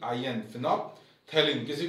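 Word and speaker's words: phenolphthalein: तो फिनोप्थेलीन एक बार आप देख लो दोबारा से, पी एच ई एन ओ L, phenol, ठीक है, पी साइलेंट था, फिनोप्थेलीन, टी एच ए एल ई आई एन, फिनोप्थेलीन।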